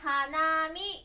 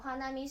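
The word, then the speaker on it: 花見: なので花見と言います。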